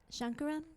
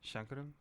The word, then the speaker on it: Sankaram: all right hello how do you say your last name again shankaram shankaram see I never would have said that right that's okay I would have said I would have said sarum and I would have